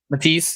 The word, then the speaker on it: Matisse: Matisse.